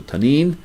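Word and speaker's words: tannin: is the word tanin t-a-n-n-i-n and the eye is like a long e so tane according to the brown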